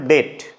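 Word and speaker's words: debt: একটা silent consonant হল ডেট যখন আমরা ডিই বিটি বলি এখানে বি এর উচ্চারণ কিন্তু হয় না জি দিয়ে যদি উচ্চারণ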